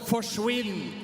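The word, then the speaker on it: forsvinn: we have a word that's called forwin and it rhymes with Quinn so it basically means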